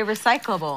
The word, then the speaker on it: recyclable: she's saying a recyclable that's not how you say it a recyclable it's not recycle and able it's recyclable it's like all smushed together and you lose a syllable okay we had a